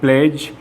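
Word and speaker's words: pledge: डी जो है वो जी से पहले हमेशा साइलेंट माना जाता है। जैसे EDGE एज और प्लेज और जज में यहाँ GE से पहले डी लिखा हुआ है, ये डी जो लिखा हुआ है ये हमारा साइलेंट हो जाता है, इसे बोला नहीं जाता।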